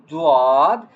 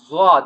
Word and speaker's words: ض: One name is dad. Some people saying dad like I think u some Quran reading like uh it is also correct but generally we are reading uh zad.